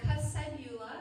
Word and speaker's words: Kuss-Cybula: So Kuss-Cybula, so Kuss is German, and for you students, it means kiss.